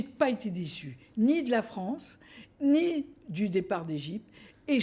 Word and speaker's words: France: la France la France il fallait prononcer la France avec un r nous on prononçait avec